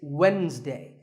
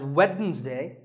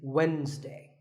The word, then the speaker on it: Wednesday: of the week it's Wednesday the D is silent sometimes it's pronounced as weddings day but the proper way to say it is Wednesday what about this word